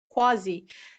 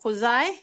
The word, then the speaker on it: quasi: and uh that's why some people use quasi some people pronounce it cos i some people know if